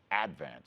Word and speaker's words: Advance: interesting thing enough is Staten Islanders put these the accent on the first syllable so it's called the advance the advance yeah so you work